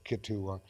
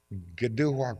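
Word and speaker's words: Kituwah: I t u w ah they naturally said ketua and it's actually pronounced gdu gdua come that town's name comes from two words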